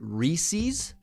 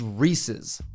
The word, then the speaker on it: Reese's: you were an idiot and you pronounced it reese's it's reese's like the name reese it's reese's peanut butter